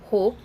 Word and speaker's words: hope: Okay, so here you can see I am not going to sound E, E will be silent, and O है उसको हम name देंगे and that will be O।